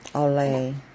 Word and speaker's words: Olay: I need to pronounce this correctly. Let me see. It starts with O-L-A. Olay. Olay.